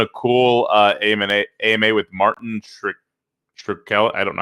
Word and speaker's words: Shkreli: They're doing a cool AMA with Martin Shkreli. I don't know how to say his last name. Shkreli.